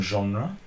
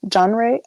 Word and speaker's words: genre: a mix of J genre how do you say it J genre this is a French word isn't it genre genre genre well yeah it's French but yeah you can